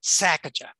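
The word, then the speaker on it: Sesachacha: And the person running the sanctuary there said, well, just think of it as a sneeze, Sacagawea.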